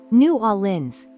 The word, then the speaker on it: New Orleans: of saying its name some people say New Orleans others might say new orens but most most locals just say new orens yes it's almost one flowing sound new orens the pronunciation